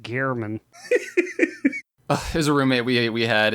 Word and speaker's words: Gehrman: with all of the screams we heard from that game, the guy never turned to the screen and said, it's pronounced Gehrman.